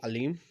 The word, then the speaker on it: alim: आज जो हम रूट वर्ड डिस्कस करेंगे वो ए एल आई एम, जिसको आप प्रोनाउंस कर सकते हैं अलीम, जिसका मतलब है सपोर्ट करना, नॉरिश करना, चेरिश करना।